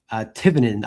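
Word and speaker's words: Thevenin: Tivenin. I learned recently that the H is silent.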